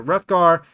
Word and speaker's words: Hrothgar: So anyway, but Hrothgar, I'm assuming the H is silent. I would say the H is silent. Yeah, so Hrothgar, and that's the male and the female.